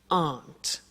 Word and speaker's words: aren't: they aren't cheap so the difficult here is the pronunciation of are not which is Aunt okay art good so